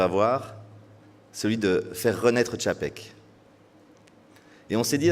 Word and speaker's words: Czapek: C'est bien Zapec? C'est Tchapek. Tchapek, voilà.